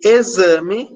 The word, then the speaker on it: exame: vocês podem perceber que em sexo ou X tem som de KS peixe esse x né vai ter um som de ch de X próximo esse X tem um som desce e exame esse X tem som de Zé então é uma mesmo